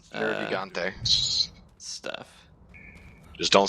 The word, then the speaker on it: Nergigante: Nergante's Nergigante.